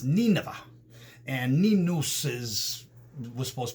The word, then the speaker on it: Nineveh: was supposed to go we call it today nineveh it's actually pronounced nina and ninus is was